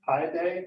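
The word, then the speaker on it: Paide: For those of you who don't know, Westminster is a sister city with Pi Day.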